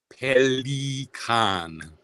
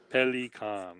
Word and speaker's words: Pelikan: named after the bird, how am I supposed to pronounce it? Pelikan. Pelikan.